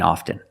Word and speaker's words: often: But sometimes you'll hear people say often, and it's not wrong. It's okay. People say both, often and often. I prefer often.